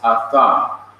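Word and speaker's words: אָדָם: It could also be pronounced Adam, but technically it is pronounced Atham.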